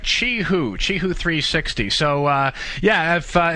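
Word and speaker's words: Qihoo 360: Finally, I learned from you how to pronounce it. It's called Chihu 360. Chihu.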